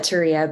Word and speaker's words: Turia: around the whole city called the turia which is spelled teriya but no one's going to say turian in the united states so just call it touria but um so it